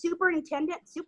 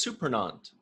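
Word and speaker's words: Surprenant: Thomas Superintendent? Oh, Thomas Supernant.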